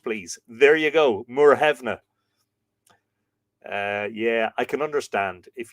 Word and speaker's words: Muirthemne: When you look at that phonetically, you would go Muirthemne. Muirthemne is how you say it.